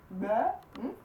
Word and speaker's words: være: Skulle det være, when a verb ends with the E, the word ends with the E in Danish, many times will just float into one, so just være, være. So it's basically just one sound.